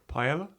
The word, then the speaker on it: paella: Paella? Oh, he does it. A paella. That's the correct pronunciation, Ryan.